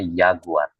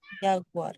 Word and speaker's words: Jaguar: Nah, tadi huruf J kan dibacanya tadi masih ingat enggak? Ee yod. Yod. Heeh. Nah, karena dibacanya kan yod kan bunyinya kan Y kan? Yod. Yod kan. Nah, jadi di sini huruf Y itu dibacanya Y jadinya jaguar. Yaguar. Heeh.